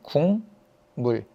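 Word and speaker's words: 국물: 국 물이라는 단어를 보면 이거 실제 발음할 때 이렇게 발음 되거든 궁물 그럼 어떻게 된 거예요 기억이 이응으로 바뀌었네 왜 바뀌었냐 여기 있는 미음 때문에 바뀐 거예요 뒤에 있는 미음이 앞에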